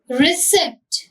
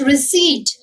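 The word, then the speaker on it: receipt: अब रिसिप्ट, रिसिप्ट it's wrong, it's रिसीट, ठीक है।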